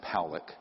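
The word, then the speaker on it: Pawlick: This man, William Powlick, his name is pronounced Powlick, was a man, very good man, who gave me an interview only to be released posthumously after he died.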